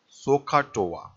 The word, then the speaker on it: SOHCAHTOA: is so so uh so so so hot sohcahtoa so it is it is pronounced like this so ha Toa so so